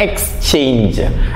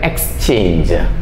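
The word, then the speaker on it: exchange: സി എച്ച് എൻ ജി ഇത് സാധാരണ നമ്മൾ പറയുന്നത് എക്സ്ചേഞ്ച് ഈ എക്സ്ചേഞ്ച് എന്ന് പറയുന്നതും ജി ഇ യിലാണ് അവസാനിക്കുന്നത് എക്സ്ചേഞ്ച് okay O ആർ എൻ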